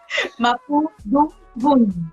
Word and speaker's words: Mapudungun: Siempre, mira, lo practiqué para pronunciarlo bien y no me va a salir. Mapudungun, así es.